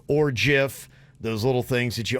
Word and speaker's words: GIF: Well, Jif, J-I-F, the peanut butter, has released special labels with GIF on it that says it's a hard G pronunciation, like the word gift.